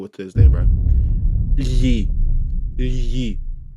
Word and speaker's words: lhe: Lhe. Lhe. It's spelled LHE. And it's like it's weird because like that sound itself is really easy to make.